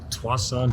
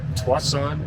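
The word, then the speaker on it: Tsawwassen: this right here is known as the uh twice on ferry terminal i believe that's how you pronounce it and uh it's home to the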